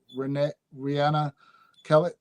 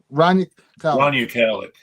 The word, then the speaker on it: Rania Khalek: Rihanna Kelly. How do you say her last name? She's Lebanese American. Lebanese. Rania Khalek.